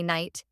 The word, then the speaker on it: knight: Island additional common examples Knight don't pronounce the k just say night half ignore the L